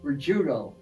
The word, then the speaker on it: Riccuito: Riccuito. Riccuito. Boy, I butchered that. Somehow I was getting an I in there somewhere. Well, CC is CU in Italian.